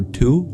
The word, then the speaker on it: two: tww of the number two we just don't pronounce the W and two anymore but Twilight means to